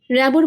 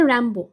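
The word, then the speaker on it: Rimbaud: র্যাবোর বদলে লিখেছে র্যাম্বো।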